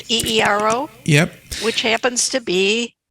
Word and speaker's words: eero: I think that's how you pronounce it, eero.